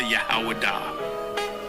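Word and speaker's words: יהודה: When I say Judah, Yahwadah. That is the ancient pronunciation of the word.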